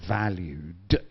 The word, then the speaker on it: valued: And then we have these words here for satisfied, loyal, and valued. And don't forget that you need to pronounce the ed valued de.